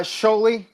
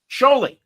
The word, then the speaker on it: Scioli: Uh Sholley. Sholley. Yeah. So I the I is silent. That's just like my eye and my name is Silent, right?